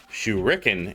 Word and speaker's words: shuriken: for the uh shuriken I know I said it wrong shukin is the move from Street Fighter shuriken is the thing you throw but we just called